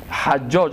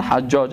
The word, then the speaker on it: حجاج: که به نام حجاج، حجاج است اصلی نامش، بعضی ها حجاج غلط تلفظ میکنن، حجاج است که ای ایره رواج داده بود و دیگه تجلیل گپا میکردن.